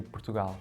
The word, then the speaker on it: Portugal: How would you pronounce my country? When we say our country, we say Portugal.